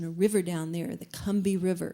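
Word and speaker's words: Combahee: river down there the kumbi river it's spelled kombahi c-o-m-b-a-h-e-e but down there they slur it and call it the kambi river and then after she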